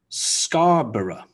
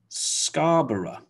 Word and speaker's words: Scarborough: let's check it out scarborough scarborough so the ending of the word g b-o-r-o-u-g-h it's not borrow or borrow it's often just reduced really simply down to one syllable of bruh so scarborough scarborough some